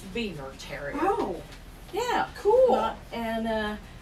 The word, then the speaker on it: Biewer Terrier: um that was well the beaver okay it's pronounced beaver terry oh yeah cool and uh their purpose in